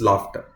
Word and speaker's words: laughter: Daughter and laughter are spelled with the same letters in the last AUGHTER, but they are pronounced differently. Daughter versus laughter.